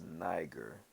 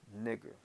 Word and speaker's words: Niger: So let's go scroll down to that word nigger, or some might say it's niger, but I'm going to show you it's a Latin word, and it's actually pronounced nigger.